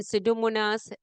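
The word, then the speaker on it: Pseudomonas: bistable gene expression in सिडोमोनास एरगो एग एगो नोशा recent research has uncovered that बैक्टीेरियम सिडोमोनास P silent recent research has uncovered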